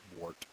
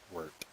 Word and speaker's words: wort: Okay, it's probably pronounced wort, but I grew up with it being wort. So you're trying to say it with an E in there, not an O.